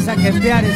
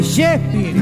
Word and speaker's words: Shakespeare: No se dice saquefiare, se dice Shakespeare.